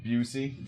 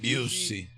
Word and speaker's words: Busey: Busey. Busey. That name is crazy. Busey. Like pussy.